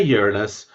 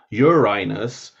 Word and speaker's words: Uranus: the planet right and there's different ways people pronounce uranus and they're all rude there's no good way of saying uranus because you could say uranus in which case you're